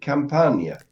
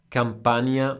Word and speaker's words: Campania: to pronounce the region is it Campagna Campania is correct yes right okay uh